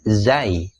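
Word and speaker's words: زاي: ro tapi dikasih titik satu di atasnya namanya Zai bunyinya mirip huruf Jim atau J atau J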